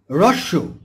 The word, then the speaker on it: হ্রস্ব: দীর্ঘ শব্দের বিপরীত শব্দ একটু কঠিন, এটাকে আমরা হ্রস্ব বলি, কিন্তু এর উচ্চারণ হবে হ্রস্ব।